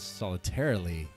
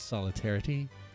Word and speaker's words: Solitarity: I think I often mispronounce it and say Soldier Stands Solitarily. It's Solitarity? Okay.